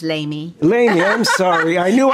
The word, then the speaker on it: Lamy: Anyway, I would like to thank my guest, Lamy. It's Lamy.